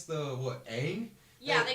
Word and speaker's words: Aang: When I was They younger, can't even pronounce the what? Aang? yeah, they call him Ong.